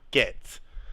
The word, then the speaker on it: Getz: It's not Goats, it's Getz.